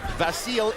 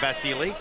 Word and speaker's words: Vasyl: vasil it it is apparently customary in Ukraine where he comes from in Eastern European get up get off or Eastern Europe to add the e sound so he pronounces his name basili that's why we're calling him basili uh after we were